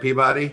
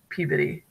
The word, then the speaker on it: Peabody: Only dummies that don't live there would call it Peabody. Yeah, it's not like Rocky and Bullwinkle. Okay. It's Peabody.